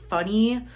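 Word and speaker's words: Phuny: So, this is again Kid Robot, but it is this funny line as well, like P H U N Y. So, I'm pretty sure it is just pronounced funny.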